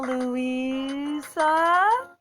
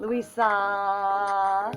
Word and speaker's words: Louisa: Isn't this swell, Louisa? You put out the emphasis on the I wrong know. syllable. Louisa.